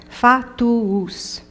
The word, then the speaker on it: fatuus: This one has 3 syllables. Fatuus.